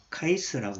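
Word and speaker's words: KICE: 카이스라고 이렇게 KIC 해서 카이스라고 이렇게 발음하기도 합니다.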